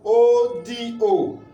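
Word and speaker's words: odò: So now let's pronounce ODO with the sign on it. It will give us what? Re, do, odo, river.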